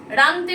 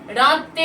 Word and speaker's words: রাঁধতে: আচ্ছা, এবার কিছু শব্দ হচ্ছে কানতে কানতে, হবে না, কাঁদতে কাঁদতে, রানতে রানতে নয়, রাঁধতে রাঁধতে, বাঁধতে বাঁধতে। এই কানতে কানতে, রানতে রানতে, বাঁধতে বাঁধতে, এই শব্দগুলো একদম ভুল উচ্চারণের ক্ষেত্রে। ওগুলো কি হবে? কাঁদতে কাঁদতে, রাঁধতে রাঁধতে, বাঁধতে বাঁধতে, চন্দ্রবিন্দু আছে প্রত্যেকটা।